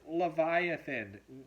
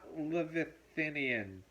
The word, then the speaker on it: Leviathan: bit was totally brilliant the word is Leviathan not love Athenian they attempted the scene